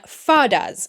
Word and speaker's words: fada: want to focus on fadas. Now, I think I am pronouncing that word right. It's spelled F-A-D-A, and I think fada is the way to pronounce it.